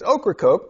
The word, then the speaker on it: Ocracoke: The island we visited in the Outer Banks is Ocracoke, pronounced like the vegetable and the diet beverage that shall not be named until sponsorship ensues.